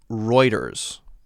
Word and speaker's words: Reuters: news organization is pronounced reuters i believe the news organization is pronounced reuters the book of dale